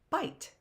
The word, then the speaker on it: bite: And two vowels go walking, I and E. First one does a talking. The E is what? The E is what? I can't hear you because you're silent like that E. Let's pronounce it. Let's sound it out. B-I-T, bite.